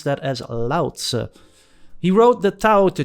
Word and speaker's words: Lao Tzu: And correct if you said Lao Tzu, and I've been told you pronounce that as Lao Tzu.